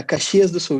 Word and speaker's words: Caxias do Sul: So Caixas do Sul is a city, right? yeah, Caxias do Sul, yes. Caxias do Sul. I need to pronounce it Yeah, correctly.